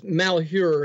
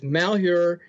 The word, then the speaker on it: Malheur: many days okay it's malh her it's an it's an odd spelling you almost have to be you almost have to live there to know the pronunciation but it's malh her and I was there